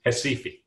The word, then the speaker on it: Recife: In the town in the red box there, pronounced in Portuguese, Recife.